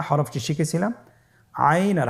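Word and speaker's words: عين: আইন হরফটি উচ্চারণের সময় অবশ্যই 3 আলিফ টেনে পড়তে হবে এবং আইন হরফটি বারিক হরফ, পাতলা করে পড়তে হবে। আপনারা আমার সাথে বলুন আইন। আবার বলুন আইন। আইন হরফটি কণ্ঠনালীর মধ্যখান থেকে উচ্চারিত হয়।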